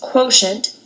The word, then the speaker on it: quotient: to multiply for division this word quotient is kind of weird doesn't really sound the way you'd expect it again the way this is pronounced is quotient and I'm actually noticing